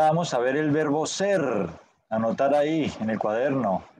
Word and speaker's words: ser: Temos que vibrar essa língua, ser, verbo ser.